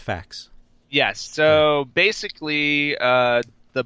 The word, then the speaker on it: FAQ: Mark JP wolf nice that's pronounced facts yes so basically uh